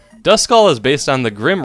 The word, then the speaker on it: Duskull: I know it's Duskull, but my mind can't help but see the DU and think Duskull. Everybody has some Pokemon names